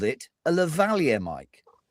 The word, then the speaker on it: lavalier: It's a French origin word. So you should say lavalier.